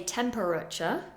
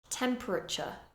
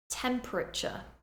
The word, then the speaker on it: temperature: we don't say vegetable we reduce that middle syllable vegetable vegetable the next one temperature we do not say temperature we reduce it temperature temperature a similar one literature a common mistake would